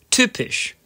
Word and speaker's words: typisch: Sometimes, the letter Y, which is called Y, which in itself is great, can be used as a vowel, making an Ü sound. For example, Physik, or typisch, physics, or typical.